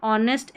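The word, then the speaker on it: honest: ओ octopus और ऑनेस्ट यहां पर ऑनेस्ट एच ओ को क्योंकि एच यहां पर साइलेंट है यू को अ अप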